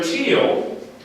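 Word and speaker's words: TEEL: So teal, as it's spelled out there, I'm going to write it really simply up here.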